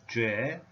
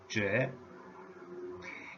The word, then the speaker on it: 亅: language Calgary core Calgary core and hook the pronunciation is J tone number 2 J it's a long journey we have just started